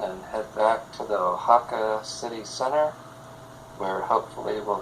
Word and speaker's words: Oaxaca: Did I just hear you, Oaxaca? No, Oaxaca.